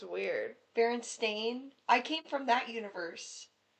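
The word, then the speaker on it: Berenstain: This is legitimately It's not I just see it's Baron Stain, but I I said Baronstein.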